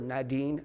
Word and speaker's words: Nadine: In this time, Duke marries in 1940 to Nadine Alexander, or Nadine Alexander as she would pronounce it, 1940.